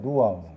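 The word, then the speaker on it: רוח: 자, 그래서 여러분이 이제 영이라는 단어가 이제 히브리어로 누아우예요. 누아우. 뒤에 발음 강해야 돼.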